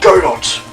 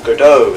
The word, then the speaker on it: Godot: It featured Godot, or Godot as some people like to pronounce it for some reason. Anyway, Godot, greatest prosecutor ever.